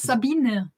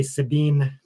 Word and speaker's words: Sabine: should say your name my name is sabine so people know how to pronounce it sabina um roger can't pronounce it probably either i just say sabine yeah but it's with an e at the end and we get so